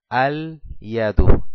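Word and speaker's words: اليد: Ahora le agrego el artículo alef lam, es igual al yadu, al yadu. Puedo pronunciar el alef y el lam del artículo y al final le dejo una sola dhamma en señal de la determinación. Al yadu quiere decir que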